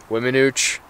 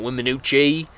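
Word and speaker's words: Weminuche: Wiminooch, not the E, so it's not Wiminooche.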